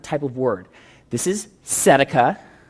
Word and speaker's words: tzedakah: This is tzedakah. The T is not pronounced.